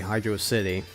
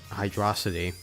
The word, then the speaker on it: Hydrocity: pronounced it that way hydrocity well actually it's not they don't make it into a separate word they make it into one word so it leads us to believe that it's hydra hydra city I don't know I just I've always pronounced it as hydro city so I'm gonna continue to keep calling it that you can you can